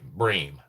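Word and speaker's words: Brehm: Anyway, it's called Mortal Mortals featuring Laura Brennan. Bream Bream. B R E HM. Apologize for saying her name wrong.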